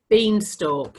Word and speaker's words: beanstalk: look and compare so beanstalk you know the story jacking the beanstalk having a talk or talking listen to the sound it's all but it's spelt alk this is a chalk